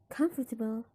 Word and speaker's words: comfortable: So if you pronounce comfort, the stress is in come. And if you pronounce comfortable, the stress is still in the come.